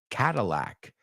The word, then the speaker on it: Cadillac: see then we don't really pronounce that D like a d it's Catal cata Cadillac like Catalyst or catalytic converter so a kitten's favorite